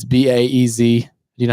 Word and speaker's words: Baez: Baez, or I don't even know how to pronounce that. It's Baez.